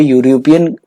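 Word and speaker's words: European: यहाँ पे यूरोपियन का प्रोनाउंसिएशन य से है, ठीक है, तो य से है, तो यहाँ क्या आएगा बेटा, ए आएगा, जो कि वोवल नहीं है।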